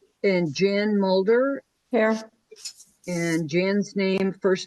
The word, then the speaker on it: Jan: And Jan's first name is spelled incorrectly. It's not Ian, it's Jan.